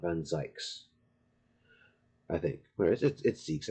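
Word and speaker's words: van Zieks: on bear appendix is just whatever it's it's Zeke's I'm sure of it looks it looks like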